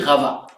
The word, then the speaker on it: Rava: J'ai dit Rabba, mais il y a aussi Rava. Et ça s'écrit exactement de la même manière. C'est juste qu'il y a une intonation différente et il faut pas les confondre.